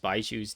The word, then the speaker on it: Baizhu: Changshen seemed to have pronounced Baizhu's names a bit more accurately to the Chinese Mandarin pronunciation than like the westernized pronunciation, Baizhu.